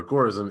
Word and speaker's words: agorism: is agora or agoraism because it comes from the greek term agora which just means you know marketplace but with that being